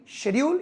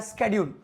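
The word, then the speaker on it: schedule: So guys let's discuss about your daily शेड्यूल या स्केड्यूल, दोनों ही pronunciation सही है, शेड्यूल एंड स्केड्यूल।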